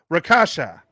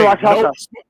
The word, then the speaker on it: Rakshasa: So he like, hey, we got bum rushed by the Rakasha. Is that how you say it? Rakshasa. That's a hard ass word. Fuck that word. Rakshasa. Noma looking at him. It's Rakshasa.